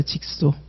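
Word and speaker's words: jigsaw: 직소. 이거 직소라고 읽어요.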